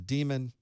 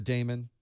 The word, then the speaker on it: daemon: a service on Linux it's a demon or a daemon depending on how you would like to pronounce it either is actually correct thank you Linux people